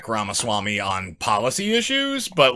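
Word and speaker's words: Ramaswamy: maybe early 50s Echo how old is VC ramaswami oh I said it right swam is 38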